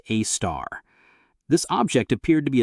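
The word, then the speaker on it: Sagittarius A*: At the exact center of our galaxy, radio telescopes detected a compact source called Sagittarius A asterisk, pronounced a star.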